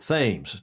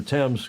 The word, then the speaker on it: Thames: One of your kings came along who had a lisp and couldn't pronounce the TH, so he called it